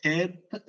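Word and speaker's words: Heth: ഇംഗ്ലീഷിൽ എച്ച് എന്ന് പറയാം പക്ഷേ ഇതിന്റെ പേര് ഹേത്ത് എന്നാണ് ഹേത്ത് ഹേത്ത് ഹേത്ത് ഇത് വളരെ സിമ്പിൾ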